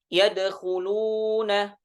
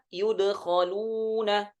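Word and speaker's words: يدخلون: Nah, kemudian di ayat yang 124 yadkhuluna dibaca yudkhaluna, ya. Dhammul ya'i wa fathil kha'i dengan mendomahkan huruf ya dan memfathahkan huruf kha.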